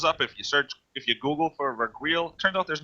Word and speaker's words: Vargouille: And we have a very special guest moderator from Turbine, one of the devs, Vargouille. Howdy, howdy. Is that the right pronunciation for that? Vargouille is in fact the correct pronunciation, which I